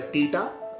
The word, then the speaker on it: theta: So we pronounce this one as a theta, T-E-T-A, theta.